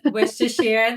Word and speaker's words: Worcestershire: She was born in Worcestershire, United Kingdom, which I think I pronounced correctly, but I'll double check when I... Worcestershire, yeah. Worcestershire, there we go.